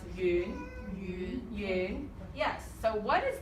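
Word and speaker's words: 雨: This is yu. Yes. And this is the word for rain in Chinese, and it's pronounced yu. Yu.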